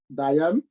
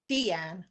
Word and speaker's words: Deanne: that is something that Diane is it Diane? Is that how you pronounce? Yeah. Deanne.